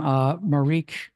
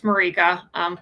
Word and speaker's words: Marika: And online, we have, and I apologize if I mispronounced her name, Marique. Hi, that's me. Yes, it's Marika.